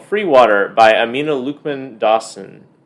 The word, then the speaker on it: Luqman-Dawson: But the 2023 Newbery Medal winner is called Freewater by Amina Luqman-Dawson. Is that how you pronounce her name? That's how I pronounce it. All right. I thought so.